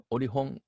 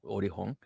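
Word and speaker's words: Olkhon: Orihon is the pronunciation, Orihon Island.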